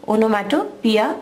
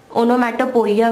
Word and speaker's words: onomatopoeia: Spelling और pronunciation की तरफ ध्यान दीजिए, स्पेलिंग इसका है ONOMATOPOEIA, ओनोमैटोपिया, हम इसे पढ़ते हैं ओनोमैटोपिया, ओनोमैटोपिया करके इसे प्रोनाउंस करना है, ओनोमैटोपोइया वगैरह ऐसा कुछ बोलना नहीं है, इसका प्रोनाउंसिएशन ओनोमैटोपिया है। स्पेलिंग में ओ आखिरी वाला साइलेंट है।